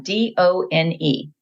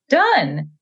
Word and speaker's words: done: D-O-N-E. It's a high frequency sight word. Now, if you're following the phonics rules, that word is pronounced done because the E makes that O say its name.